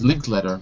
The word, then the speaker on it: Linklater: By the way, most people say Linklater, even though it's written later. It's not really pronounced later. So most people say Richard Linklater.